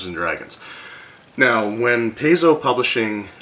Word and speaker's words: Paizo: & Dragons now when Paizo publishing like initially what they did and I know there's two different ways to pronounce that I always called it Paizo because it had the a after the P but anyway they were